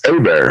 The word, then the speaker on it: Hebert: looks like Hebert but my family is from Southern Louisiana so it's got that French Creole uh pronunciation that's a bear it's like the two